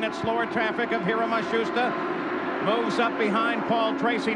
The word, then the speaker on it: Matsushita: Now it seems that they have settled on Matsushita.